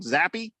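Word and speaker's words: Zappe: beating the pack in overtime via the the zappy is that how you say his name zappy yep Bailey zombie that's embarrassing that is embarrassing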